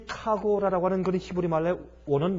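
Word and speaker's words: חגורה: 카고라. 이 발음이 좀 짧아. 카고라.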